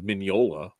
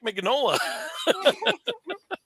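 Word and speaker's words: Mignola: about three years ago I learned it was minola yeah Mike mola mola for years if you see the comic book the movie that Mark Hamill did he actually has the guy who plays Hellboy saying Mike mola is over there so Ron Pearlman is like yeah you can go talk to Mike magnola oh I I see I always heard people saying magnola but I'm like isn't it an Italian name yeah I I I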